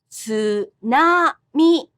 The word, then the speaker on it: tsunami: English puts stress on the middle syllable. But in Japanese, the pitch accent is the same for the second and third syllables. tsunami, tsunami.